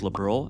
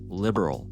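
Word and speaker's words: Liberl: always pronounced it liberal, ending with a sound that rhymes with Earl, which is closer to the Japanese pronunciation.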